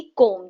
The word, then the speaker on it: comb: ऐसे ही कोम, जिससे हम कंघा करते हैं, राइट, कंघी जो होती है उसे COMB, कोम कहते हैं, राइट, उसको हम प्रोनाउंस करेंगे कोम, खाली एम तक आएगा।